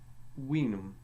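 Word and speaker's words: vinum: V had a sound similar to our W, so we will and winum.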